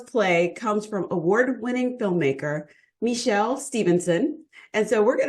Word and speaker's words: Michèle: Is it Michelle or Michelle? It's Michèle. Michelle.